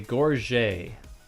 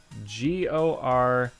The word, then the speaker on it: gorget: armor is called a gorget g-o-r-g-e-t that is a french word all right gorgeous but i hear a lot of people pronounce this word gorget just uh gorget so